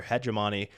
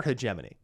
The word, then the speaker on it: hegemony: comes to US dollar hegemony, and they're trying to, or hegemony. You say hegemony, whatever. I suppose it could be pronounced both ways, just to save face.